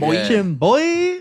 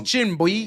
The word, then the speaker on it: Chinboi: Spell your rap name though, because it is spelled a little different. CHINBOI. Yeah, Chimboy. Chimboy. That's Chimboy.